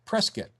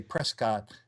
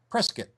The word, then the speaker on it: Prescott: part of Arizona say Prescott. So you can always tell the outsiders like you and me who say Prescott, and the people who live there say Prescott. It almost rhymes with biscuit.